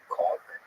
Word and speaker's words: caulk: I have to pronounce it as far as I can. Really get that L in there, like call.